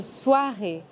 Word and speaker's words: soirée: Le « et » de soirée est le même que dans journée. Bonne soirée.